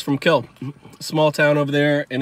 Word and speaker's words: Kiln: the edge of town kiln is which is actually pronounced kill uh brett favre is